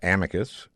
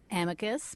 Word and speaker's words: Amicus: Now, Dahlia has a podcast herself, Amicus, which means friendly.